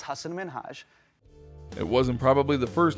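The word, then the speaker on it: Hasan Minhaj: number 14 hassan minhaj everyone that says your name says hasan minaj yeah but the real way you pronounce it and this is a big deal because my parents are here it's hassan minhaj it wasn't probably the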